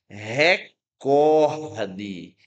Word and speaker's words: recorde: Por isso, a pronúncia correta é recorde. Recorde.